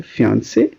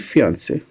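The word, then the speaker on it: fiancée: ख़त्म होता है, और दोनों की प्रोनाउंसिएशन सेम है, फियांसे एंड फियांसे, because it's a foreign word.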